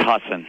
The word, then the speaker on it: Husson: What is the correct pronunciation of the college you're playing on Saturday? To my knowledge, it's Husson.